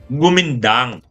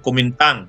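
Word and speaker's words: Kuomintang: mga nationalist o kumintang pronunciation sa kanila niyan gumindang okay kaya lang sa atin nasanay na tayo kumintang habang na ang gobyerno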